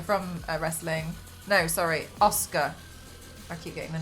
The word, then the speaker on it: Asuka: Oh man, I think it's it's Asuka from wrestling. No, sorry, Asuka. I keep getting the name wrong.